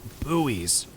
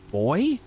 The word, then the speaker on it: buoy: But uh yeah, it's it's buoy in the US. I But I guess you guys pronounce them boy, which color me confused, y'all.